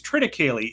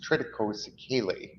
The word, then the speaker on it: triticale: And then this one, I always pronounce it, I think it's triticale. Is that, can you correct me on how I say triticale? Is that Yeah, what this grain? triticale is absolutely perfect.